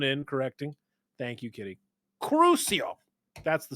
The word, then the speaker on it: Crucio: out dude everybody was freaking out was awesome acuo acuo yeah Kitty coming in correcting thank you kitty crucio that's the spell that he casted so this Glazer the Glazer